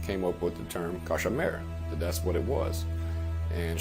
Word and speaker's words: cauchemar: And there was, it's pronounced variantly in Louisiana, couche mal, which means to sleep poorly.